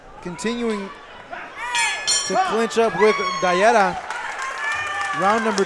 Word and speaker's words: Dallera: So how do you pronounce this guy's last name? Dallera. Dallera.